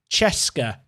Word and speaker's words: CSKA: CSKA is pronounced Cheska.